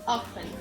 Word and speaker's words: often: Tá vendo que eu tô pronunciando como se não tivesse o T? O T aqui é mudo, então é how often e não how often. How often, como se o T não existisse na hora da pronúncia.